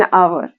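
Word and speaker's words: hour: आवर एन आवर silent H हमें यह ध्यान ही नहीं देना है।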